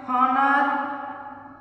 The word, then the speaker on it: honor: Third one, honest, honor, honor, और here. सबके अंदर H है ना, साइलेंट वर्ड है.